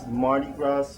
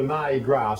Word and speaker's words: MardiGrass: Is MardiGrass and... It's a MardiGrass, so not Mardi Gras. Alright. We don't have the leapfrog. My pronunciation. Okay. No, meaning grass.